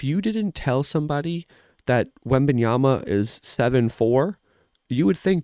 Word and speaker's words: Wembanyama: Victor Wembanyama? I think I said it right the second time. Wembanyama.